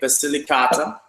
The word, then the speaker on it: Basilicata: so we're going to move on to a basilicata did i pronounce that correctly very good actually so we're